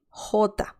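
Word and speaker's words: jota: next one that's the name of the letter hota and this is a pretty straightforward pronunciation the sound is pretty much so the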